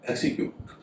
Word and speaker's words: execute: पहला शब्द है एक्सीक्यूट, EXECUTE, इसमें एस के बाद ई है लेकिन उसका उच्चारण स हो रहा है।